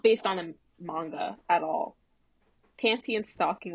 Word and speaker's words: manga: I know people get angry at me when I pronounce it wrong and I don't know what the right pronunciation is. It's manga.